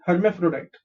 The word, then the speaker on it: hermaphrodite: let's see the pronunciation here is her m is me phr is flow and d i t is diet okay her may throw diet hermaphrodite her main photo diet hermephrodite so what is the